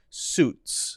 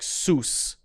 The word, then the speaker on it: suits: we're focusing on but often saying something like soos soos which would be incorrect you got to make sure that it's a little t sound that makes it kind of like you're hitting a symbol it's that sort of heart sound if doesn't have that there suits suits suits those